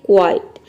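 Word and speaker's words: quite: तो देखिए यहाँ पे क्यू यू का हो जाएगा क्व और आई का यहाँ पे आई प्रोनाउंस करेंगे। टी का हो जाएगा ट, ई साइलेंट है क्योंकि वर्ड के लास्ट में आया है। ये हो जाएगा क्वाइट।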